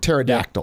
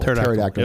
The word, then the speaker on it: pterodactyl: it a silent P like pterodactyl pterodactyl is that silent p and it seems like